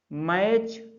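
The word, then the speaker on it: match: फिर इसी तरह से मैच, एम ए टी सी एच, चा पढ़ा ना मैच, तो ई एस जोड़ देंगे, मैचेस।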